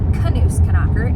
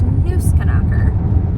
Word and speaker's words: Knusknacker: like 12 years, and it's actually just Knusknacker. It's not Knusknacker, it's Knusknacker, which makes so much sense because there's not a K in front of Knus, like, because in German they pronounce every letter.